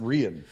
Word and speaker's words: Rian: It's actually pronounced Rian. Oh. Yeah, Rian Al Ghul.